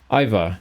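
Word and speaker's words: Iveagh: This is pronounced Iva. So the Tuath of Iva.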